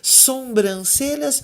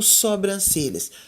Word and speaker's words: sobrancelha: cabelos e retocava as sombrancelhas ou sobrancelhas sobrancelhas então vocês vão até perceber aí que a gente ouvi muita gente falando e até escrevendo errado não é letra e